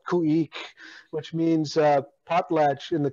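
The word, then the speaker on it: Khueex: I have a group right now called Kuik, which means potlatch in the Tlingit language. And it's spelled K-H-U-E-E-X.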